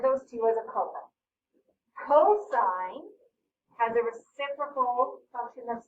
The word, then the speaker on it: cosine: with it to cos some people say cos again cosine is how you say it so same amount of